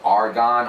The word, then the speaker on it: argan: Right, and the way it's spelled with an A, not with an O. If you say argan, argan is a gas, okay? It's on the periodic chart because a lot of